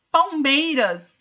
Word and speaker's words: Palmeiras: Palmeiras, a última sílaba tônica é? Ninguém sabe qual que é a última sílaba tônica de Palmeiras? Contem para mim. É o MEI, é o MEI.